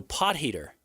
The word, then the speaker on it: Potgieter: Potgieter. He's South African, and it's crucial to use the he sound, a soft G, rather than a hard G. So pot heater.